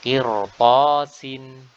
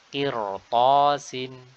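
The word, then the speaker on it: قرطاس: Nah, qirtasin, qirtasin. Di sini ra dibaca tebal meskipun sebelumnya kasrah, karena huruf setelahnya adalah huruf ta yang notabene adalah huruf isti'la yang dia berharokat fathah, ya, atau tidak berharokat kasrah.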